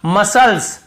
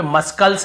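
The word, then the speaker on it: muscles: यहां पर भी देखिए मसल्स मसल्स मसल्स यहां पे muscalls नहीं पढ़ रहे हैं यहां पर भी साइलेंट है ये देखिए सीजर सीजर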